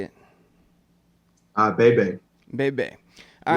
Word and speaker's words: Bebe: Bebe.